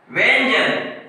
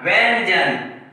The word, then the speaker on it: व्यंजन: जैसे हम बोलते हैं व्यंजन, क्योंकि रूल कहता है कि जिस वर्ण के ऊपर अनुस्वार लगता है, यानी कि य के ऊपर अनुस्वार लगा है तो इस अनुस्वार का उच्चारण य के बाद होगा और सब बोला जाएगा व्यंजन।